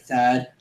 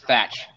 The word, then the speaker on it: Thatch: I really doubt that, Thad. Who's Thad? Who the frick is Thad? I think it's talking about you, buddy. No, it's pronounced Thatch, Renzo.